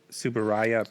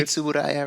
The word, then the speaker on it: Tsuburaya: And this is by another thing I'm going to mispronounce, Suburaya Productions. Suburaya, yeah. Who is known for their Ultraman stuff. And that's Eiji Tsuburaya, right?